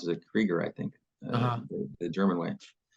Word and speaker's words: Krueger: is spelled by Alan Krueger's name but she pronounced as a Krieger I think the German Way and um she's